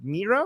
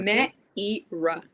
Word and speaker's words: Meira: How do I pronounce it? Mera. Mera. Mera. Meerra. Meerra. Meerra. Meera.